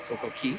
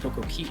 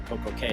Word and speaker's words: Coco Cay: So, we have Coco Cay tomorrow, or Coco Key, depending on how you want to say it. Coco Key is the proper pronunciation, but you will hear Coco Cay a lot, and uh